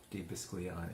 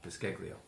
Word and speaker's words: Biscaglio: my good friend Joe Di Biscagliani. I said it wrong. Biscaglio. Joe Biscaglio. There we go. You got it now.